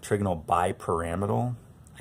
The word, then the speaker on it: trigonal bipyramidal: be what we call trigonal bipyramidal. Or some people pronounce it trigonal bipyramidal. I hate that, but that's actually also a correct pronunciation.